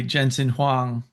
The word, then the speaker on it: Jensen Huang: a deliberate strategy by Jensen Huang uh I think that's how you pronounce his name at at Nvidia